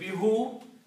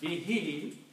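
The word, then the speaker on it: بِهِ: In the tajweed, who is recited as he, because of this kasra here to make easy on the tongue. So if you say bihu, it is not very easy to pronounce. So pronunciation becomes bihi, but separately these are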